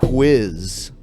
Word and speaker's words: whiz: Yes, I like that you pronounced the H in whiz. Yeah. I used to have a teacher in elementary school that was an old nun that used to do that all the time. Like wheat.